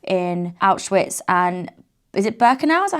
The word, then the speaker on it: Birkenau: We are doing a full tour with Get Your Guide, starting off in Auschwitz and is it Birkenau? Is that how you say it? Yeah, Birkenau?